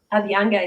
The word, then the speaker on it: Abhyanga: So aside from the Abhyanga, is that how you say it? Abhyanga, yeah.